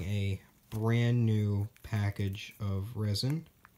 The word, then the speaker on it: rosin: brand new package of resin or rosin if you were going to pronounce it as a spelled I guess that's called phonetically and as you can